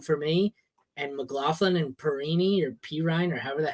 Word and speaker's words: Perine: long since gone but they pronounced it perini so when they started saying this one it was perini what's the Tarantino movie